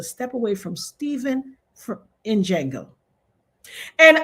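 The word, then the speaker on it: Django: Stop pronouncing the D. It's silent. If I hear one more content creator, the Jango, I'm going to rip my own edges out.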